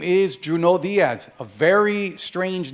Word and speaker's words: Junot: name in fact is June all that T is silent if you pronounce the T you're pronouncing my name wrong now here's the deal